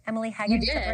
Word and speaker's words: Emily Hagen: Emily Hagen. Is that the right pronunciation?